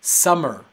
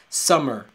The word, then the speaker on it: summer: la siguiente palabra es summer summer tiene 12 meses pero solamente es el sonido de una m la otra cosa el